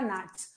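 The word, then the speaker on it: gnats: हो जाएगा डिरा नेक्स्ट नाट्स जी साइलेंट रहेगा एन से प्रोनंसिएशन जाएगा नाट्स हाउस फ्लाई तो जानते ही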